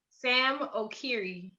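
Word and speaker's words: Sam Okyere: San Okiere. How do I say his name? Sam Okiri, and he's from Ghana.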